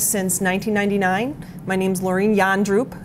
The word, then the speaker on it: Jandroep: My name's Laureen Yandroop. It's pronounced yawning and drooping, but I try to not be boring.